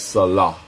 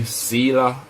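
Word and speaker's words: Selah: it's hot that's the hot so the proper pronunciation is Salah Salah it's like what um theud was saying in Psalms when you see silah in Psalms he was really saying Salah Salah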